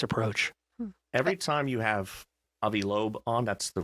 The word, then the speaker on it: Avi Loeb: Every time you have Avi Loeb on, that's the correct pronunciation.